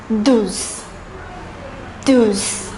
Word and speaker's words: douze: The number 12 is pronounced as douze, douze.